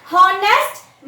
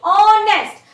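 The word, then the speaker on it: honest: देखिए इसमें भी एच से स्टार्ट है, तो इसका भी प्रोनाउंसिएशन जो है हॉनेस्ट नहीं है. इट इज ऑनेस्ट, सो it sounds like vowel.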